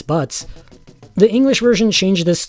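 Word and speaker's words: バッツ: main character's Japanese name is butts it it's spelled with a z but yeah it it's butts the English version changed this to Barts and there are fans who get unironically upset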